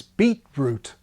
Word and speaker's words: beetroot: Not so in North America, where respondents report no train changing, in other words, beetroot. Canada is a big supplier of beetroot. So evidently, the morpheme boundary survives there as it does in 16.